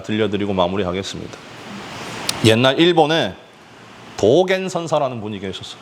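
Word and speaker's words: 道元: 옛날 일본에 도겐 선사라는 분이 계셨어. 도겐. 우리 발음으로론 도원이야. 도원. 도원 스님인데 일본뿐이니까 일본식으로 불러야지. 도겐 스님이야.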